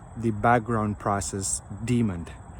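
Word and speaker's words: daemon: call the background process demon demon so it's it's spelled d-a-e-m-o-n instead of d-e-m-o-n but the pronunciations are the same so it's it's kind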